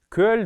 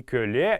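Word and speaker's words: көл: Кölь дор. Кölь — это у нас ноги, как мы помним, не кölе, еще раз повторюсь, а кölь — правильная орфоэпическая норма произношения этого слова.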